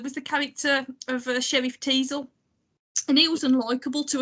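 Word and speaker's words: Teasle: but I couldn't shake the whole Teasel rhyming with Weasel.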